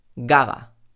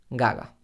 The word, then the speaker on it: Gaga: Gaga. Lady Gaga. En español no decimos Lady Gaga, sino Lady Gaga. Cuando digo Lady Gaga, la primera G también suena más suave porque viene detrás de la I de Lady Gaga.